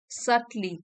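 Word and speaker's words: subtly: undermine you while others might सली बी यहां पे साइलेंट है सली सल से बना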